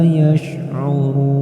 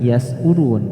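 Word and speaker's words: يشعرون: Nah, maka cara bacanya wa ma yash'urun. Tidak dibaca yas'urun tapi yash'urun. Baik, kita lanjutkan ayat ke-10.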